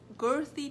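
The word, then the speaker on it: Guthrie: gonna do this thing called um a growthy girthy test let me spell it for you all right I like I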